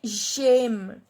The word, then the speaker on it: j'aime: So the pronunciation will be j'aime. Because if I do not cut this e, and I have to pronounce this j'aime, so there is no spontaneity in my pronunciation. J'aime. But if I cut this e and add this apostrophe, the pronunciation will be faster.